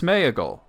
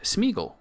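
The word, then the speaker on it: Sméagol: the E and smeagle you would think it's smeagle uh but tolken himself said smeel and he didn't pronounce the a at all so in a discussion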